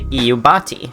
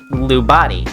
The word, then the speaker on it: Iubati: That's how it's pronounced. You might have googled this and checked it out for yourself and saw it spelled like this. I too thought it was Lubati, because the capital I looks like a lowercase l.